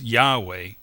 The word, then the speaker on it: Yahweh: found it to be the four Hebrew letters yod he VAV and he usually pronounced as Yahweh but means he exists